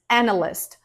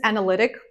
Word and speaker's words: analyst: Moving on, the next word is business analyst. Business analyst. Sometimes I hear people say business analytic. It's not right. Business analyst.